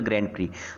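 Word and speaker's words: Grand Prix: इसको बहुत सी जगह मैंने सुना है कि को बहुत से स्टूडेंट्स और बहुत से टीचर्स इसको ग्रैंड प्रिक्स बोलते हैं। इट इज एक्स is silent here, it is only ग्रैंड प्री।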